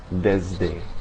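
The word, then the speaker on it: desde: Also before certain consonants such as M and D, the S can have more of a Z-like sound like in the English pronunciation of Lisbon. Okay. Examples in Spanish, nismo and deszde. So it's more of a Z sound.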